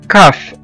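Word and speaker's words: cough: وزي كمان كلمة كاف، كاف أو يسعل، الواحد لما بيكح دي اسمها كاف، كاف C-O-U-G-H، كاف.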